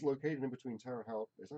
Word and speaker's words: Terre Haute: It's located in between Terre Haute. Is that how you pronounce it? Terre Haute. Terre Haute Yes.